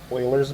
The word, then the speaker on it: Euler: is the 28th and our topic is Oilers method and it's spelled e u l e r okay so Oilers method